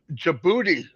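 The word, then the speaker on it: Djibouti: Guatemala coming we have jibuti coming and we have turkey you said it right yeah I always want to say the D but Robin Robin told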